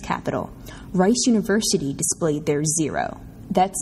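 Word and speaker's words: Zerow: At the 2009 Solar Decathlon in Washington, D.C., our nation's capital, Rice University displayed their Zero. That's spelled Z-E-R-O-W House.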